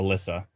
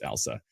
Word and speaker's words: Elsa: I do in Ontario, someone corrects me on Elsa Craig. I always call it Alyssa and then Elsa. Somebody explains to me it's Elsa.